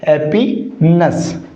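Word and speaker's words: happiness: नहीं साथियों, इसका करेक्ट प्रोनाउंसिएशन क्या होगा, ये जो NESS है ना, इसको हम नेस नहीं पढ़ते, क्या होगा इसका उच्चारण, नस। तो ये क्या हो जाएगा, हैप्पीनेस।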